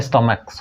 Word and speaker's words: stomachs: Formation अगर करेंगे यानी पेट का STOMACHS तो स्टोमक्स हो जाएगा।